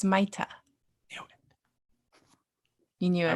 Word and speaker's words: Maita: It's Maita.